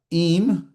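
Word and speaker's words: עם: Im, now the in is silent. Remember, it's not technically completely silent, but for all intents and purposes, it is silent.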